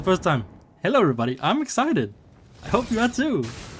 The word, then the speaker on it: XSEIDET: It's spelled in a really weird way, but it's pronounced excited.